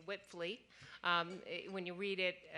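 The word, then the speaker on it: Wipfli: to say it it's whipley um when you read it w-i-p-f-l-i it doesn't always sound the way it looks but but that is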